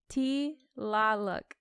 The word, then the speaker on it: Tlaloc: Because it's TL. It's Tlaloc. Tlaloc. Yeah. You gotta lazy T it. Tlaloc. You're putting too many syllables in there. Tlaloc. That sounded good. That sounded good. Tlaloc. You gotta open your mouth.